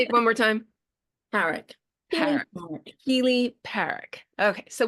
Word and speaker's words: Parrack: Well, I pronounce it Parrack, but lots of people pronounce it Parrack, which I think is quite fancy.